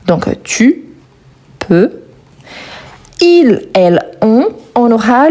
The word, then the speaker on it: peux: Donc tu peux, il, il, on, on aura le T à